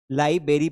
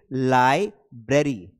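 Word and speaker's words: library: लाइबेरी पढ़ते हैं। आर को खाई जाती है। आर यहां बीच में लगा हुआ है। तो इसको जब आप प्रोनाउंस करेंगे करेक्टली उसको आप पढ़ेंगे लाइब्रेरी।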